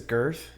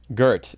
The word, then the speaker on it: Gert: Did you say his first name is Girth? Gert, G-E-R-T. Oh, okay. I just... All these people are dirty. Yeah. It was like... Gert Forb was he was